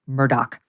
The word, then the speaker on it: Murdaugh: it's very confusing because it's spelled m-u-r-d-a-u-g-h but apparently it's pronounced Murdoch um here they are listen to the Cavalier nature of uh Murdoch in this sound bite 19.